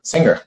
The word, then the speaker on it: Singer: Singer.